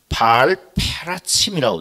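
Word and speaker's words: בעל פרצים: 베레스 우사 사건이라고 불렀는데 히브리어로 보면 발음이 조금 다릅니다. 다윗이 블레셋을 쳐서 진멸한 사건을 바알페라침이라고 되어 있어요. 바알페라침이라고 되어 있고 이 하나님께서 우사를 쳐서 죽이신 사건은 페레츠 우사라고 되어 있어요.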